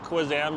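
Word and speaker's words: Kanzan: And then in late April to May, this is when we get the Kwanzan or it's pronounced Kwanzan, but it might be spelled Kazan.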